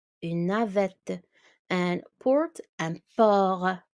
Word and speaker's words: port: And port, un port. T is silent in French.